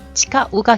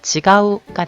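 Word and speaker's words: 誓う: 자, 이거 발음 잘못하시면 땡땡 타금으로 발음하게 되면 지가우가 되죠. 아니야, 그거 아니야, 틀렸어. 지가우 라는 표현 굉장히 많이 쓰죠. 자, 지가우, 치카우 다르죠.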